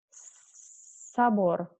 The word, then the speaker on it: собор: It's very important to say it correctly because it can, if you say it wrong, people cannot understand you sometimes. For example, zabor with this letter, zabor means fence, and sabor with this letter, sabor, means totally different. It is cathedral.